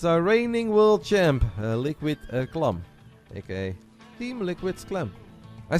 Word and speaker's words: Clem: so often that I don't even know how to say clam anymore like it's Clum right it's like no what Clum I'm pretty certain it's Clum it's like Siri tell